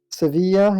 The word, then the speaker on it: Sevilla: did severe but I don't know how that's pronounced in English Sevilla yeah and and Valencia and Barcelona on the